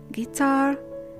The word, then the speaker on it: guitar: If U is followed by a vowel sound, the U is muted and the vowel sound following it is pronounced. Let's read the words. We say build, guitar, guess, guide, guilty, guard,